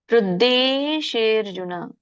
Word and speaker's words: ಹೃದ್ದೇಶೇರ್ಜುನ: ಹೃದ್ದೇಶೇರ್ಜುನ. ಹೃದ್ದೇ ಧೇ ಅಲ್ಲ, ಯಾಕಂದ್ರೆ ಮಹಾಪ್ರಾಣ ಇಲ್ಲ, ದಕ್ಕೆ ದವತ್ ಮಹಾಪ್ರಾಣ ಇಲ್ಲ.